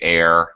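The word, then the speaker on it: heir: I when I say air and AIS I do not pronounce the h by the way okay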